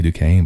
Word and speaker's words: Duquesne: see that one i don't want to say duquesne but that's how you pronounce it saint francis bucknell lehigh lafayette villanova